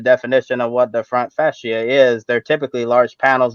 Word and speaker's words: fascia: correct pronunciation for for the word is actually pronounced fascia and and NASCAR said that there was material